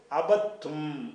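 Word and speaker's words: عبدتم: இந்த தால வந்து க்ளோஸ் பண்ணிரனும் உச்சரிப்புல எழுத்துல இருக்கும் உச்சரிக்கும் போது தால விட்டுரணும் விட்டுட்டு அபத்தும் அபதுத்தும் என்று சொல்லாம எப்படி சொல்லணும் அபத்தும் அப்ப அந்த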